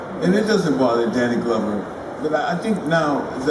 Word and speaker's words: Glover: It comes from the same glove. You know, it's an English name, Glover. But some people call me Glover and everything else. And it doesn't bother Danny Glover.